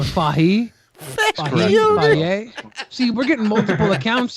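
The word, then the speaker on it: Fage: first time I guess it's apparently pronounced Faye or fahi see we're getting multiple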